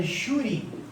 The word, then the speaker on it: júri: Agora, se eu estiver diante da palavra júri, por que na palavra júri eu tenho um acento aqui no U? Bom, a sílaba tônica, vocês concordam que é a penúltima, é o ju, né?